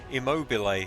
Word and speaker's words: Immobile: Immobile, there we go, the immobile one.